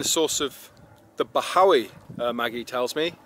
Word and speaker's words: Bachawy: through that saddle there as they pronounce it always it Howie is it I've been calling it bozo II know so it's a silent CH right so that's why